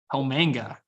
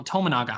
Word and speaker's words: Tominaga: I did not say his name wrong. Say the last name. Tomanga. Is it Tominaga or something? Yeah, I think so. Oh, Tominaga.